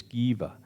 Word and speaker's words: Kiva: And I told him, well, in the Hopi language, the pronunciation is Kiva. The way you say it is Kiva.